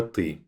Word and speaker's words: ты: Remember, this I sound doesn't exist in English, so your pronunciation might sound like this T instead of ты. Try to work on saying it like I, ты.